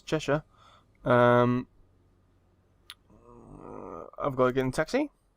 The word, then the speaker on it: Cheshire: Cheshire, that's not how you say it, it's Cheshire.